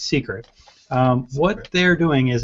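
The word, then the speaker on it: Cicret: c i c-i-c-r-e-t okay so it almost looks like it says cricket but it's secret um what they're doing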